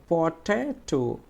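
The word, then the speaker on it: potato: তাহলে এরকম আরেকটু দেখো, দেখো এখানে লেখা আছে পটেটো, তাহলে পটেটো আমরা উচ্চারণ করার সময় কীভাবে করব, এই যে এইটা হচ্ছে ট্রেস, ট্রেস সিলেবল, তাহলে পটেটো, পটেটো।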